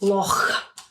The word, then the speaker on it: Loch: So Loch, or how do you say it? Loch. Love that.